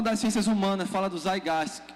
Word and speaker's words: Zeitgeist: Se escreve assim, mas se pronuncia com o T do lado da pronúncia. Zeitgeist.